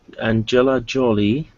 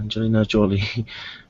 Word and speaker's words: Angelina Jolie: Uh, Angela Jolly. Angelina. Angelina. Okay. Angelina. Okay. Uh, Angelina Jolie.